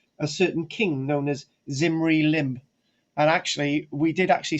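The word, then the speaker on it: Zimri-Lim: just under 4 000 years ago was called zimri lim um and we've got letters from zimri lim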